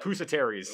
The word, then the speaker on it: Pusateri's: Pusateri's.